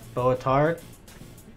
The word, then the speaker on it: Boatard: Boatard? That's good evening. Boatar. You don't pronounce the D.